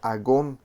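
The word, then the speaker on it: ἀγών: que había gran oposición un término que se pronuncia a gone de donde también viene la palabra agonía o agonizante esto significa que a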